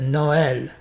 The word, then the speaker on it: Noël: Par exemple, Nol, c'est pas Nol, c'est Noël.